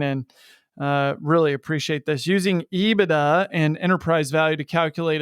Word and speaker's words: EBITDA: It is pronounced by most as EBITDA, but regardless of how you say it, EBITDA is independent of capital structure.